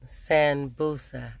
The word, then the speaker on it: Sanbussa: and I ordered these sand boosah I think that's how you say it but anyway it's spelt si en bu SS a and what it is